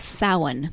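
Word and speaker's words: Samhain: Celtic Ireland and England and the festival of saw one that's spelled s am h AI n speaking of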